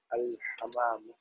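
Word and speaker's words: الحمّام: Now, fil madrasati, fil bayti, al baytu, al ghurfatu, al hammam. Try to make a shadda on mim. الحمام to make a difference between the other word which is الحمام okay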